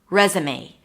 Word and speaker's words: resume: Res, and it's confusing because it's spelled with an S, I know, but it's pronounced as a Z.